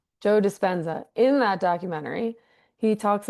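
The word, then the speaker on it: Joe Dispenza: they talked about was how and I always mispronounced Joe Devenenza. You say Joe. Oh, Joe Despensza. Despensza. Thank you. Despensza. Joe Despensza.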